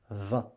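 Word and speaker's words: vingt: But you don't pronounce V-I-N-G-T, you pronounce 20 like that. 20.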